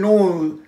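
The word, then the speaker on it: nose: নেই, উচ্চারণটা আছে নোজ, নো ও এস ই আছে, বললে পরে আমি নেক্সট দিনের পরের পরেরটাতে লং ভাবে শেখাবো, তখন বলে নোজ, জয় শূন্য থাকলে উচ্চারণটা হয় জেডের মতন, যেমন কাজী নজরুল ইসলাম, জয় শূন্য, জ নয়, কাজী নয়, তেমনি নোজ।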